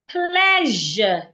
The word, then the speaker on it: pleasure: Why pleasure has the zh sound. pleasure. So pleasure, leisure and vision, they have the same sound.